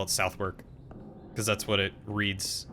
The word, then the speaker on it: Southwark: Southerick? Souther? Like Southern and Irk? I mean, just because the English have improper pronunciation doesn't mean I should.